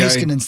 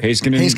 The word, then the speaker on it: Heiskanen: Haskinen's the guy who's I'm sorry. Heiskanen, right, yeah.